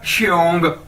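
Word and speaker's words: 兄: Next है जी हमारे पास एक्स, आपको पता है हम किस तरह प्रोनाउंस करते हैं, किस तरह, शीन की तरह, ठीक है, श। तो XIONG क्या बन जाएगा, श्योंग, ठीक है, श्योंग।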